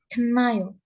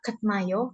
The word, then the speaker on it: 끝나요: kenayo, 끝나요. kenayo. Dia dibacanya nggak ketnayo, kenapa? Karena di suaturan bacim, ketika tiet ini bertemu nian, si tietnya ini berubah jadi nian juga, kenayo.